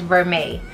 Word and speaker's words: vermeil: very chic sorry guys the correct pronunciation is vermeil so this is the